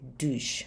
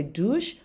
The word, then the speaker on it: douchent: And they are taking a shower, ils se douchent. Remember the ENT is silent. So, ils se douchent, vous vous douchez, nous nous douchons, il se douche, tu te douches, and je me douche.